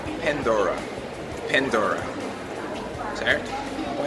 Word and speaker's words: Pandora: Em inglês eles falam Pandora.